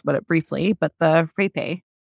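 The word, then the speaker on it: rapé: it briefly, but the rape. How do you pronounce it? I've done it. Yeah, so you pronounce it hape, but it's spelled R-A-P-E with an apostrophe on the E.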